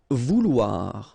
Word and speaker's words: vouloir: Vouloir, okay, OU, OU, and then OI, OA, so vouloir, okay.